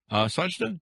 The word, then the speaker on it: Sajidah: Sajda, do I get that pronounced right?